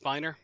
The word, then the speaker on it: Spiner: actually called that it's actually called it's actually pronounced Spiner um look at the spider friend I